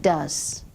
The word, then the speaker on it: does: a look yes she does yes he does but we must remember to pronounce or say it with a z sound does and did you notice